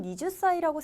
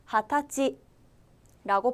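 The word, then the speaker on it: 二十歳: 가장 중요한 발음이 스무살이에요 살이라고 하면 니주 사이라고 생각하시는 분들이 계신데 반드시 타지라고 발음해 주셔야 됩니다 하타이라고 하면 저희가 지난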